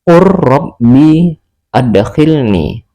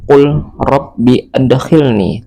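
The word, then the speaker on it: قل رب أدخلني: Maka cara membacanya langsung dimasukkan ke dalam huruf ro. Qur rabbi adkhilni. Qur rabbi adkhilni. Tidak lagi mengikuti tulisan qul rabbi adkhilni, tetapi langsung qur rabbi adkhilni tanpa berdengung.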